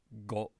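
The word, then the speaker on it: ご: then here as well for k if i add ten ten to k i go from ko to go go so the vowel never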